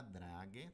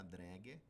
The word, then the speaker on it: Dräger: Eu trouxe aqui três exemplos de ventiladores da Draga, ou da Dräger, que dependendo da sua pronúncia, né, se você é uma pessoa refinada.